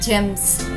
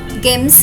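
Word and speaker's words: gems: కాబట్టి ఈ పదం యొక్క ఉచ్చారణ అవుతుంది జిఈఎంఎస్, జెమ్స్. గెమ్స్ కాదు, జెమ్స్.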